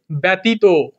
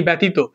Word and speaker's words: ব্যতীত: একটা উদাহরণে যেমন ধর আমরা অনেকে বলি যে ব্যতীত অনেকে লেখি ব্যতীত এই ব্যতীত কি হবে ভাই তাহলে যদি জফলা থাকে তাহলে কি হবে এখানে এ চলে আসবে বত আমরা তো জানি